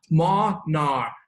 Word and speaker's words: monarch: 这个 CH 这里发 K 的音，所以 Monarch。